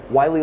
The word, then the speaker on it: Wylie: It's WYLIE. So I always tell people it's like Wiley like the coyote, but it's not spelled the same way.